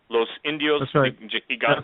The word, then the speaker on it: Los Indios Gigantes: Well, the Spaniards called these people, and if I'm pronouncing this right, Tim, correct me, please, ladies and gentlemen. I don't mean to be offensive, but I don't pronounce Spanish names. But Los Indios Gigantes are the giant Indians. Is that pretty good? Los Indios Gigantes. That's right.